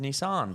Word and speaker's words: Nissan: I did notice actually so I have been saying Nissan as my whole life as most probably Australians um or Americans I don't know but um obviously being in the film so prevalent they would obviously have to give the tick of approval yeah and for all you out there it is pronounced Nissan so there you go